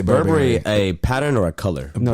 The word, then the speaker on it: Burberry: inspired pants inspired uh which by the way that is how you say Burberry a pattern or a